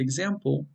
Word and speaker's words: example: And in this word, in the word example, it's the second syllable that's stressed. I've put it in bold. So it's example, example. It's not example, nor is it example.